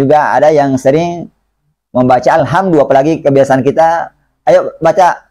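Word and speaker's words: الْحَمْدُ: Dalnya pengucapan Al-Quran itu lembut. Tidak kasar, juga tidak dibaca tebal. Bukan alhamdu. Ya. Jadi, alhamdu.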